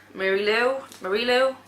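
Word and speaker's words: Marie Lu: I then have Warcross by Marie Lou, that's how you say it.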